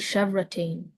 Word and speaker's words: chevrotain: Are there any alternate pronunciations? I just see chevrotain.